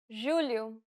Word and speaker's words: julho: The letters J and G can sometimes be pronounced like Je. It sounds like the S in pleasure. The problem arises when speakers